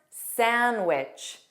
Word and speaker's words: sandwich: And of course, sandwich, sandwich.